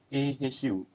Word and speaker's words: AHU: week nine and n12 inspect all air handling a hu or we can pronounce it ahu we can do in